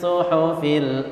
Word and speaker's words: suhufi: Hati-hati fi. Jangan sampai bacanya panjang. Sering kali saya mendengar suhufi Ibrahim, harusnya suhufi Ibrahim wa Musa.